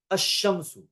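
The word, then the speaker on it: الشمس: Now ashamsu we write that asshamsu and we pronounce it asshamsu.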